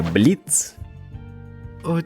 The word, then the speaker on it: Бліц: пам'ятаю твоє ім'я Я Бліц чи не було там о в кінці типу як вимене на клоунів я б запам'ятав А так але більше вона не вимовляється Окей тож просто зви